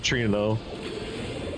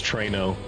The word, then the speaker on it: Trano: Which apparently all my life I've been saying Trano wrong, because I've been calling it Trino. I guess because that's what I heard. But in Japanese it's Toreno. So I guess the intended pronunciation is Trano. Because if it was Trino, it would have been Torino. Written as Torino.